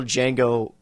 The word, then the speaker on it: Django: the way the original Django himself makes a cameo I forgot that Franco Nero it's fantastic I love it the D is silent after all it is